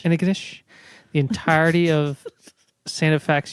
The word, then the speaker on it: Antigonish: It's pronounced Antigonish. Antigonish.